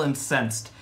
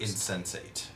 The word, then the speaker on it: insensate: Fairyzilla is still incensed, meaning it is not really... To my knowledge, the incense tilt means it's a little confused. Insensate. Insensate? That's how it's pronounced.